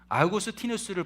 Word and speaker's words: 아우구스티누스: 초대교회의 위대한 교부를 뽑으라라고 한다면 아우구스티누스를 뽑습니다. 아우구스티누스 그러면 여러분 좀 생소하실 텐데 어거스틴이라고 하면 어거스틴 많이 들어보셨을 것입니다. 똑같은 이름인데 어거스틴은 영어식 발음이고 이 아우구스티누스는 이제 그리스어 헬라식 이렇게 표현입니다.